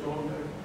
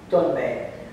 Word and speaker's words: dönme: Is there any thought within the Dome community that Mustafa Kemal was born?